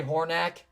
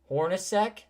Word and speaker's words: Hornacek: Jeff Hornacek. Hornacek? Yep. Is that his last name? Did you just say Hornack?